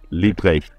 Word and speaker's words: Liebrecht: Porque veo tu apellido, ¿cómo se dice? Liebreich. Como yo lo he dicho, igualito.